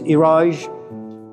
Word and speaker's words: Iraj: My brother's name is Iraj, but because Americans have difficulty pronouncing it, we call him Miraj.